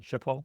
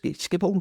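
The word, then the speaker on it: Schiphol: Do you know how to pronounce it? Shipole. Oh, shipole. Skip all skipp.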